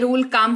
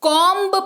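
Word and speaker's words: comb: रहे थे आज तक जी हां इसको कॉम पड़ते हैं कोंब या कोंब नहीं पड़ते हैं नहीं बोलते हैं अगला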